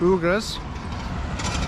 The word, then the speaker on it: Uyghur: know them as the uyghurs we call them but they're actually pronounced ogres so we'll be running